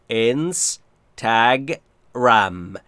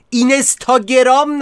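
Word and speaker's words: Instagram: اینستگرام باید بگیم اگرا تلفظ درستش رو خیلیاتون دارم میبینم اشتباه میگید بچه‌ها ای کوتاه رو که یاد گرفتید انس تگ رم ان اگرام اینستا نگی اینستاگرام نگی آخه رگ گردنم زد بیرون چقدر حرص بخورم حواستون به تلفظ درست باشه دورتون بگردم تگ رم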